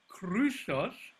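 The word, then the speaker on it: χρυσός: in other words long for example the word the gold krusos the oopsilon is long now you can find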